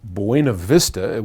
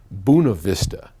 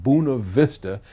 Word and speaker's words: Buena Vista: Colorado now I know that the people in Buena Vista which is how I would think anybody from California would say it calls it buna vista and they're quite proud of that spelling or